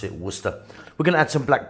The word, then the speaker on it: Worcester: worcester sauce or as some of you say we're try chester sauce is you pronounce it worcester we're gonna add some black pepper to that